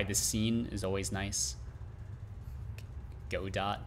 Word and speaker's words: Godot: scene is always nice go dot absolutely not calling a godot is wrong but i i can understand why you would call it that it's a french term just like when you